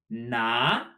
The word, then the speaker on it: 拿: a 手, a hand, we have 拿, much like naga, but with a rising tone.